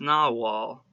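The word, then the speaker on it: nagual: rest of his life nahuwel pronounced na wall was the name given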